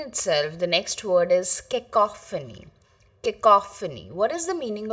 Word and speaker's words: cacophony: So, kicophony, it's pronounced as kicophony. And the meaning of this word is harsh or unpleasant noise. This is the answer. This entire answer is the meaning of the word kacophony. Cacophony.